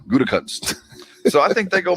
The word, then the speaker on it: Gutekunst: Gutekunst.